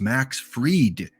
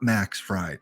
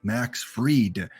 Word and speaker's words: Max Fried: It is Max Fried, not Max Fried, Max Fried. So if I mispronounce some names, feel free in the chat to educate me on the correct pronunciation.